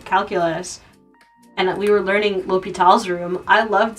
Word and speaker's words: L'Hôpital: Like when I was taking differential calculus and we were learning L'Hôpital's room, I loved saying La Hospital. I know it's not pronounced La Hospital, but it's more fun to say La Hospital.